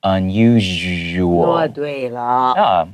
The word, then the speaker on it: unusual: usual 不管那個音會有點所以聽老師念的正確的發音 unusual it has a little bit of a Z sound so we got here